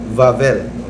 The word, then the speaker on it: Wawel: Next, 1300s, in the village of Wawel sa Poland, ang pag-pronounce nila sa W, V, Wawel, Volkswagen.